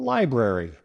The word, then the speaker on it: library: Next, let's tackle a place we all love, the library. Many people mispronounce it as library. Drop in the first R. However, the correct pronunciation includes both R sounds.